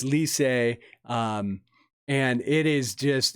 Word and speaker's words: Licey: But anyways, they got a big L, and it's Lycée.